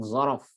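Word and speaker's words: ظرف: So if ni merupakan kalimat isim, dia ialah isim ruang, isim zaraf. Kita sebut zaraf tuan-tuan. Zaraf, Z-O-R-O-F, ujung di F, zaraf. Okey, ejaan Arab dia macam ni Ustaz?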